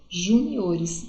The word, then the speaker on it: juniores: Juniores, então júnior fica juniores, então a sílaba mais forte não é mais no Ju, é no O, ok?